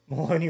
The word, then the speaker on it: Maloney: Maloney rhymes with baloney.